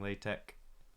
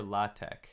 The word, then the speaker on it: LaTeX: Is it LaTeX or LaTeX? Total tangent, but I really don't like that the word LATX is pronounced LaTeX. I want to pronounce it latex because that's what it's spelled like.